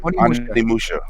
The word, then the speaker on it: Onimusha: Onimusha.